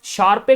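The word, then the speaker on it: Sharpe: उसके बाद में साहब शार्पे करके है, शार्प उसको बोला जाता है, PE, ई साइलेंट होता है, शार्प करके एक नाम है जिसने दिया है कैपिटल मार्केट थ्योरी।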